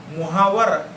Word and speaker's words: मुहावरा: क्या फारसी में इसका मुहावर यह तरह का रूप भी प्रचलित है लेकिन लेखन में मुहावर है उसका उच्चारण मुहावरा ऐसा ही किया जाता है अब उर्दू में